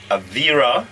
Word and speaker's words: Avira: of them on the side i hope i pronounce it right jenny is the expert avira antivir avira yes always will and that's a-l-w-i-l that's right